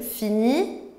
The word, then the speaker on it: finit: Voyons tout de suite comment on va prononcer avec le verbe finir. Je finis, tu finis, il finit, elle finit, on finit, nous finissons, vous finissez, ils finissent, elles finissent.